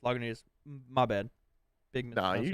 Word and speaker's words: Lagunitas: and stopped in at the big liquor store and got LaGuinta's Daytime IPA. Have you had this one? I haven't had the daytime, but I think it's Lagunitas. Or Lagunitas? Yeah. It is Lagunitas.